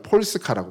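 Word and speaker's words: Polska: 있는 건데 솔론고스 우리도 우리는 우리가 폴란드를 부를 때 폴란드라고 부르는데 폴란드 자기 그 나라에서는 뭐라고 그러냐면 자기 자기 나라를 폴스카라고 불러요 폴스카 폴스카라고 부릅니다 그리고 이제이 칼은 여성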